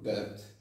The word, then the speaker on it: debt: And he or she wants your debt. Okay, debt. Debt. Yeah. The B is silent.